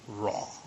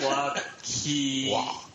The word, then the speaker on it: Roy: So Patrick, Oti, how do you pronounce his name? Raw. Close. Patrick Waugh, so he's now the head coach of the Colorado Avalanche.